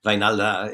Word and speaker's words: Wynalda: I call him Wynalda because Wijnaldum is the way you say Wynalda is how you say my name.